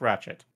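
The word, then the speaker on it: Rachette: Yeah, it's Ratchet, like Ratchet and Clank. Ratchet. It's not like Ratchet. T-T-E. It's just Ratchet.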